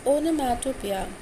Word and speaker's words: onomatopoeia: Onomatopoeia, pronounced as onomatopoeia, is defined as a word which imitates the natural sounds of a thing.